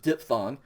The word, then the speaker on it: diphthong: the greek vowels uh a diphthong funny word here um pronounced diphthong and this is a